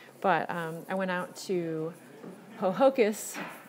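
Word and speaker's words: Ho-Ho-Kus: But I went out to Hohokus. I like saying it looks like Hohokus, if you're from the South, but it's actually Hohokus, New Jersey.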